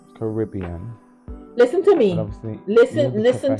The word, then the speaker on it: Caribbean: is for like pronunciation so you say Caribbean and I'm pretty sure it's Caribbean listen to me listen